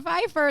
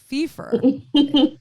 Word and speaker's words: Phifer: have her on and her name is hannah pfeiffer did i say it right hannah first it wasn't that but i think that's pretty funny fifa so interesting i mean i hear people will